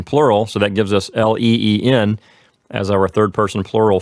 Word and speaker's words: leen: And then our ending, our personal ending is EN for the third person plural, so that gives us LEEN as our third person plural form.